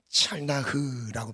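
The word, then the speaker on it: צלח: 찰나흐라고 발음을 하는데, 이 형통은 장애물이 있음에도 불구하고 전진하는 거예요.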